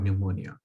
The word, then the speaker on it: pneumonia: photosynthesis i pneumonia so there's a silent p at the beginning of pneumonia now this is an